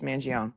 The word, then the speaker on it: Mangione: I'm not going to argue about the pronunciation of Mangione because it doesn't end in an I. That's all I'm going to say. If you're from New York and New Jersey or the tri-state area, it's Mangione.